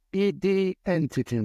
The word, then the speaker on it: IDNTT: che allora si chiamava ID Entity anche adesso è idntt Ma sai poi tu appunto vivendo a Londra sai che la pronuncia è identity ci piaceva questo gioco